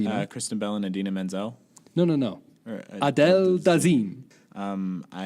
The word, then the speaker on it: Idina Menzel: was supposed to introduce Idina Menzel, and he completely mispronounced her name. Like, it was absolutely comical. He said, "Yeah, the wickedly talented Adele Dazeem," and she was like, everyone said, like, who?